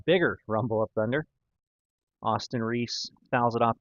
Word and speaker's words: Rees: You spell it R-E-E-S, but it's pronounced Reese, like Angel Reese.